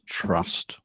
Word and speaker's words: TRVST: So trust stands for the traceability and verification system um however um we pronounce it trust.